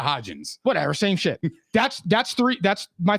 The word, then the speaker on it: Hodgins: Isaiah Hodgson and Richie James are not getting past Bradbury and Slay. Yo, say his name with a little bit of respect. It's Isaiah Hodgins.